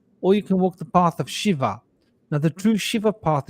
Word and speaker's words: Shiva: body she it's not Shiva it's Shiva right listen to the pronunciation she there's an H on the end of it Shiva and Sh so it's not shiv it's Shiva Shiva so they're both very